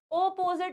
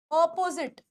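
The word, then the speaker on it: opposite: कई बोलते पोसट है कई कहते हैं कि यह अपोजिट है अपोजिट है अपोजिट नहीं होता ऑपोजिट ऑपोजिट कैसे बोलोगे करेक्ट यह गलत है यह प्रोनंसिएशन गलत है सही क्या है ऑपोजिट अपोजिट य प्र पिट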